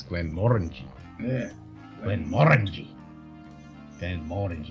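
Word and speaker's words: Glenmorangie: issue it's like most people say Glenn moranji but it's Glenn Morgan yeah 10 mornings like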